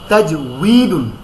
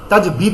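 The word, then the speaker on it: تجويد: দুই পেশ দুন, তাজউইদুন, তাজবিদ না তাজউইদ, ওই প্রথম যারা লিখেছেন আপনি ওইটাই তাজউইদ। হ্যাঁ, তাজিম জবর তাজ, ওয়াও ইয়াজের উই, তাজ উই, দাল দুই পেশ দুন, তাজউইদুন, এটা হচ্ছে মূল উচ্চারণ। তাজবিদ না, ওয়াও কখনো বা হয় না।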